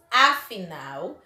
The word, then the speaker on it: afinal: Observe que nas duas palavras, a última sílaba foi pronunciada com mais intensidade.